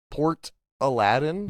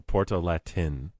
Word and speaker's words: Portalatin: Port Aladdin? No. Portalatin.